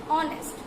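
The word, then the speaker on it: honest: যেমন অনেস্ট, আমরা সাধারণত অনেস্টটা লিখি এইচ দিয়ে শুরু করে কিন্তু এইচের উচ্চারণটা সেখানে হয় না, হয় অনেস্ট।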